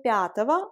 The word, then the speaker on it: пятого: Nous observons ici que пятого a la même terminaison ого qui prononce ava phonétiquement et également nous avons la forme года pour dire l'année.